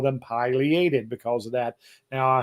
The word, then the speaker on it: pileated: People ask about the pronunciation of the pileated versus pileated woodpecker. If you've heard me before, I talk about the name of that crest on that woodpecker is scientific name is called a pileum.